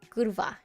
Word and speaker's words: Kurva: It is important on R. It's important to say the R. Kurva. Yes. You're supposed to roll your R.